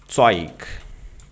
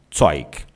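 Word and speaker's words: Zeug: As letras E, U no alemão vão ter som de Oi. Oi. Ok. Então nós temos para pronunciarmos no alemão, nós dizemos, tá? Toig, coisa. Toik.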